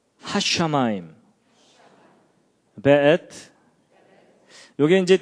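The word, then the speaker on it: וְאֵת: 그 다음에 앳, 하샤마임, 베엣. 요게 이제 W인데도 여기에 독일식 발음을 해서 베 이렇게 읽는다고 합니다.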